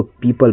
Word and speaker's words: people: जैसे यहाँ एग्जांपल पे आप देख सकते हैं, जैसे PEOPLE, इसको पीपल पढ़ते हैं।